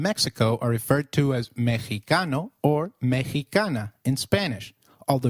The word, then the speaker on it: Mexicano: pronounced as X inflexible it is pronounced as a throaty H in the words Mexico Mexicano and Oaxaca which is a state